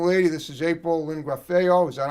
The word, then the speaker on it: Graffeo: This gorgeous young lady, this is April Lynn Graffeo. Is that how you say it? Graffeo.